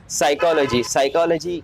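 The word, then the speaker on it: psychology: क्योंकि अगर एक वर्ड एग्जाम्पल लूँ तो साइकोलॉजी का स्पेलिंग आम लोगों को लगता है सी से स्टार्ट होता है, पर वो स्टार्ट होता है पी से, और उसका एक्चुअल उच्चार है एस से।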